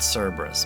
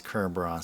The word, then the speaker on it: Cerberus: Well, where I'm looking at here, it's called Cerberus, but of course, it's Kerros.